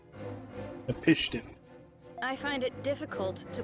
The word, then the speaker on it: Napishtim: Hey, I finally know how to officially pronounce that. Napishtim.